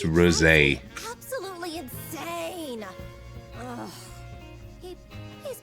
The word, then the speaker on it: rosé: It's pronounced rosé.